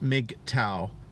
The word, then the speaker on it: MGTOW: dollar habla members of Macau pronounced Mik Tao communicate almost entirely online